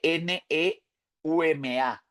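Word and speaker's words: pneuma: Nuevo Testamento la palabra para espíritu es neuma neuma se escribe p n e u m a neuma y aparece 379 veces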